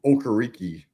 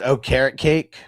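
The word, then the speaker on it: Okereke: I call him Okariki. Yeah. So, I'm gonna take Okariki. Yeah. I think it's really pronounced O carrot cake. carrot cake.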